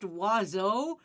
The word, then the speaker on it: oiseau: Oh, yeah, there's a word that's pronounced oiseau, but it has none of the letters you imagine in it.